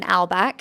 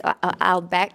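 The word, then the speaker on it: Morten Albæk: And then we have Morton Albach, who is Albeck, I'm probably saying it wrong with the Danish accent.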